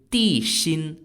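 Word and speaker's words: Di Xin: towards the king his real name is actually di Shin spelled d-i-x-i-n and unlike what was being portrayed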